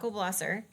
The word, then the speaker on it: Blosser: I'm just I was just curious about Sak Blosser. So, Blosser. Uh, it's apparently sle blosser rhymes with glosser.